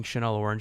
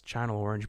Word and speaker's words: Channel Orange: by the way guys sorry for pronouncing chanel orange like that it's channel orange but um we're from